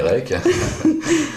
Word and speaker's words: Rech: D'accord, alors en fait, on prononce Olivier Rec, mais c'est Olivier... Ça s'écrit Rech, R-E-C-H, voilà. mais ça se dit Rec à la bretonne, quoi. Même s'il y a d'autres artistes Rech qui se prononcent Rech.